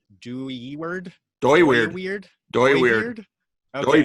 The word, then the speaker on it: Dooyeweerd: I looked into I don't know how to pronounce this guy's name. Dooyeweerd. Dooyeweerd. Dooyeweerd. Okay. Dooyeweerd.